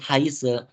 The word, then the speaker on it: heiße: Kenapa aku baca ini heiße? Ingat baik-baik teman-teman. Kita baca dengan I. SZ itu bacanya S.